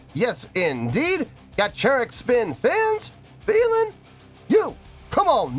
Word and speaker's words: Gacharic Spin: here we go yeah I've been corrected a lot lately on on how to pronounce gacheric spin it was like the CH is a CH not a cut and I'm like fine